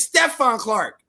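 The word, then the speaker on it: Stephon Clark: stuff on say carts say his name's Dante Clark say no it's Stefan Clark hmm I am the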